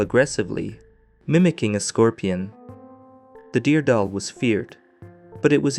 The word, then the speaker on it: deargadaol: in the Irish language as the Dearg Due, pronounced Dardal.